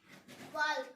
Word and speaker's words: walk: वह चल पाता है, He is able to walk. वॉक, Walk. L silent है।